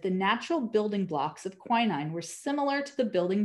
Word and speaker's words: quinine: thousands died of malaria queening or i think it's pronounced quinine actually quinine was the only